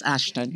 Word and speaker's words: Ashton: Did I pronounce that right? Yes, Ashton.